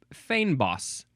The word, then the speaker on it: fynbos: Fynbos. It is spelled Fynbos. According to the pronunciation, it looks like it is pronounced fynbos.